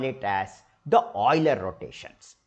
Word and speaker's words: Euler: Swiss scientist Leonard OA actually it is spelled as UL but Oiler so if you go